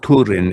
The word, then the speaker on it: Túrin: Well, it's Túrin and it's supposed to rhyme with Húrin because all of the